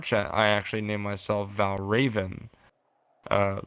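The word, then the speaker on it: Valravn: one like uh boss in it called uh valraven right that's that's how you pronounce it and uh uh it was it's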